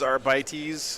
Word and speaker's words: Arbites: Boris, the correct pronunciation is Arbites, Here.